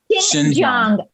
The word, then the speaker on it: Xinjiang: How do you pronounce it? Xinjiang. Okay. Yeah. And you're learning Chinese. Okay. Xinjiang.